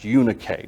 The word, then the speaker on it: Eunice: Here in 2 Timothy chapter 1, Eunice is Eunike. That's how her name is actually pronounced, Eunike. Nobody would know what that meant. So we say Eunice because that's how we read this.